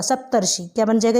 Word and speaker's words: सप्तर्षि: और उच्चारण देखिए, सप्त ऋषि, सप्त ऋषि, मीसियन कहने का मतलब जो है र जो है उसका उच्चारण पहले होगा, सप्तर्षि।